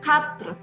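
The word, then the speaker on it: quatre: dengan Cut grup ya tapi Edi akhir itu sebetulnya tidak berbunyi jelas sekali jadi kita bisa melafalkannya dengan khatri eh nya tidak terlalu bunyi jelas ya tidak seperti Eh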